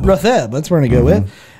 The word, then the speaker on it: Rothgeb: It's either Rothgeb or Rothjeb. The G is silent. It's Rotheb. Rotheb.